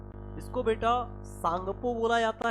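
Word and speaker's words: Tsangpo: तो इसको आपको याद रखना है कि इसको सांगपो बोला जाता है ना? अगर टी लिखा होगा तो टी साइलेंट हो जाता है ना? तो सांगपो आपको याद रखना है कि इसको क्या बोलेंगे? सांगपो बोलेंगे।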